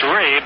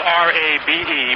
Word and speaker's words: Rabe: It's Rabe. I said Robbie. It's spelled R-A-B-E, pronounced Rabe.